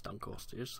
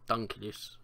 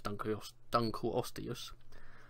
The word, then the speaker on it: Dunkleosteus: Dunkleosteus, if I'm pronouncing it right, because I think it is Dunkleosteus, I don't think it's Dunkleus or Dunkleosteus, but I think it is Dunkleosteus.